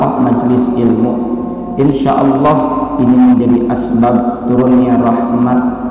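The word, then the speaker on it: الله: dari tajwidnya untuk wawloh lafal Allah bilamana diawali dengan hak-hak atau juga bom magmaka lafal Allah ini dibaca tafkhim Allah tafkhim alias tebal jadi tidak semuanya lafal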